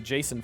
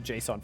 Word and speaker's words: JSON: correctly or not Jason game says it's the Jason files not the Json files pronounce it correctly dumbass it's okay it's okay